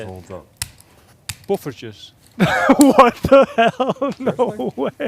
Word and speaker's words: poffertjes: Buffertjes. What the hell? No way. Buffertjes. Pooferges.